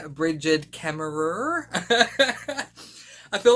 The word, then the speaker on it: Kemmerer: When Americans pronounce horror, it sounds really weird, like horror does sound better, I'll admit, but Kemmerer sounds better than Kemmerer. But anyway, I'm sorry, in Australia, ER is pronounced as A.